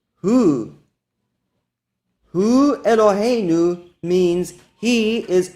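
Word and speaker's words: הוא: That Hebrew word is pronounced Hu.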